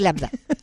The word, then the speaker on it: Lambda: Suéltate, bueno, yo soy Lambda Germán. Ah, ok. Germán por mi papá. Soy Lambda Germán. Y bien difícil de pronunciar esto, porque como que sí. Te dicen Lama, te Lama. O me dicen Lambda o Lambda o Lambda.